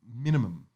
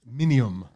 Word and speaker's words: minium: You know, there is an orange colour called minimum. Let me just make sure I get this pronounced. It's called, and it's one of the. Is it really called minimum? Sorry, minium.